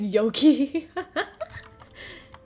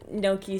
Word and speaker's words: gnocchi: I thought you said yoki? No, no, not yoki. Just... No, gnocchi, so, let me spell it.